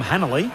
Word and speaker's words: Hanley: The artist formerly known as Tom Hanley who pronunciation is Hanley.